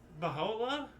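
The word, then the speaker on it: Bahá'u'lláh: You pronounce Baha.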